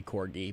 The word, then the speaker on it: corgi: For, It's definitely corgi because there's no way there's a breed of dog that rhymes with orgy.